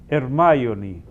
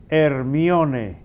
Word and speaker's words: Hermione: Entonces, aquí diríamos Hermione. Pero en inglés, como se escribe, como en griego también es Hermione. Ahora se animan a ponerle a una sobrinita el nombre original. Se lo están poniendo Hermione, como lo pronuncian en inglés, sí.